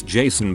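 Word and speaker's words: Kason: my name is pronounce Jason but with a K I don't think it's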